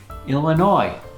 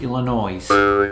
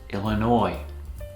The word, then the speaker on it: Illinois: Illinois. It's a Native American name, and the S is silent. Not pronounced Illinois. It's Illinois.